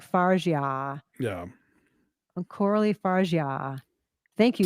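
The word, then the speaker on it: Fargeat: her name last night, they were saying Coralie Fargi. Yeah, And they said Fargi twice. I'm like, that's not right. that can't be right. And then like I went and I watched like the LA Times Directors Roundtable thing, and they pronounced it Fargia, as Justin Chang has, as we all always Fargia have.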